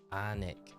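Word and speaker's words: Alnwick: anik hill alwick hill uh and it's definitely pronounced the same is anic Hill Ah that's cool whereabouts in the country is at Michael that's crazy anic Hill yeah anic it's got the largest secondhand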